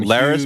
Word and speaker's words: Larys: Now his name rhymes with Varys. Coincidence? It's a good way to remember. It also rhymes with Ferris. So we may have a John Larys Hughes Bueller's Day themed Off episode.